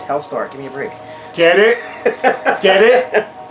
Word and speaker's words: Helstar: the L is silent. It's HELSTAR. Oh, is that what it is? No, it's HELSTAR.